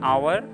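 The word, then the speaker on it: hour: उच्चारण पे ध्यान दीजिएगा, एच यहाँ पे साइलेंट है।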